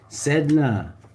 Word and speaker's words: Sedna: SEDNA, pronounced Sedna, is the sea deity of the Inuit people.